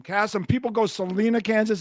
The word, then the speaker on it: Kassem: Oh, Cassm, not Casem. Castm.